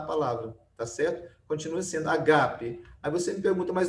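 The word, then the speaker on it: ἀγάπη: tá certa continua sendo Ágape Aí você fica muito mais não é Ágape não a gente pronuncia assim mas não é a forma certa o assento é aqui ó na segunda Seba é Ágape né amor e aqui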